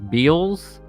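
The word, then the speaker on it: Beale's: brewery in Virginia called I think it's pronounced Beals and they made a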